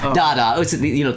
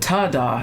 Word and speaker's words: Dada: Oh. Dada. It's an art reference. Oh, no, I wasn't sure if you said get, but I'm saying it wrong. No, I thought you said ta-da at first.